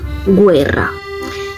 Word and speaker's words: guerra: Si nos damos cuenta, como en el ejemplo primero de guerra, se escribe igual que en español, pero se pronuncian diferente. En español, esto se pronuncia como guerra. En cambio, en italiano, se pronuncia guerra.